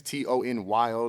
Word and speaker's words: Tonyo: Instagram, King Tonyo, Texas, Tonyo, like my name, Tony, from San Antonio. So it's not Tonyo or like Tokyo. It's like, people like, how do you say your name? Like Tony, San Antonio.